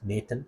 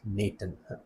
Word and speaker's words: n8n: And by the way I'm told that it is supposed to be pronounced Nathan. I'm not sure. So I'll try to pronounce it Nathan.